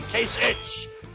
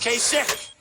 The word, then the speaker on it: Kasich: Every time I see it, I say Kasich, but it's pronounced Kasich.